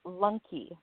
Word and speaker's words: Lunke: is it Lunke or Lunk? How do you say your name? It is Lunke.